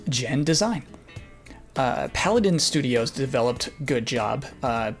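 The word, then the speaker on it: genDESIGN: not very good The Last Guardian studio is pronounced gen design Paladin Studios developed good job Nintendo is simply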